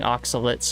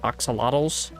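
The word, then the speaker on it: axolotls: And yes, I'm saying oxalates, not oxalottals. Oxalate is the way you pronounce it.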